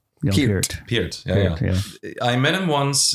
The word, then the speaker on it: Neil Peart: Neil is a correct pronunciation, by the way, Neil Peart. Peart.